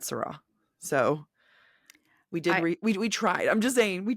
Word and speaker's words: Saara: and I I believe her first name is pronounced Sarah but it could be Sarah um but I'm GNA go with sarra we did Google that I remember we we have Googled that and Google said Sarah so we did we